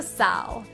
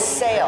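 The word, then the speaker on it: SAAL: Welcome to Sal. Seal? Saul? How do you pronounce this? It's pronounced Sail, and it stands for Stanwood Artisan Ales and Lagers.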